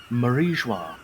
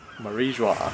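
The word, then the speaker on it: Mary Geoise: the I'm going to attempt to pronounce this, the Marie Joie. Marie Joie. Marie Joie. There we are. Yeah, it's French. Everything to do with the world nobles assumes the French pronunciation.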